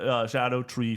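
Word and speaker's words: Scadutree: be called for they wanted to be called Shadow tree fragments oh that which I'm like nope that's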